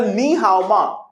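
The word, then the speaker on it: 你好吗: mandarin we spell nihama in mandarin we spell nihaoma in mandarin we'll spend neha in english let's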